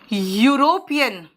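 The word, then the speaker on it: European: देखो बेटा, ऑरेंज, ओ प्रोनाउंसिएशन देखो, N orange, eagle, an eagle, umbrella, an umbrella, यूरोपियन, ये ई से शुरू हुआ लेकिन इसमें वॉल साउंड नहीं है ना, कॉन्सोनेंट साउंड है।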